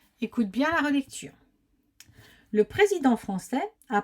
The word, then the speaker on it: français: cette dictée le président français on n'oublie pas la sdie à français sinon ça ferait Franquis a prononcer avait prononcé